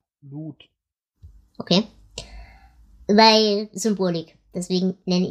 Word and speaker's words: Lud: Falls ihr euch wundert, wie wird's im Englischen, also wie wird's im Hörbuch ausgesprochen? Lud.